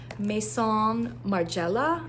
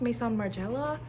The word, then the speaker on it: Maison Margiela: Parisian like perfumer here meon Marella I believe that's how it's pronounced Mason Marella I mean that's how we would say it in an anglicized way I'm I'm I can't